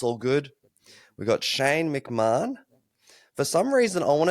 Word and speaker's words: McMahon: to say it, but McMahon. in Australia it's McMahon, and in America it's McMahon. So There you yeah, go. it's McMahon. Irish surname, and McMahon is the correct way to say it.